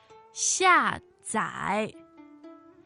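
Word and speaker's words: 下载: 下载. 下载. So fourth and third tone.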